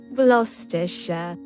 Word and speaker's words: Gloucestershire: Ok, Google, ¿cómo se pronuncia este nombre en Inglaterra? Gloucestershire. Muy bien, nació en Gloucestershire, Inglaterra.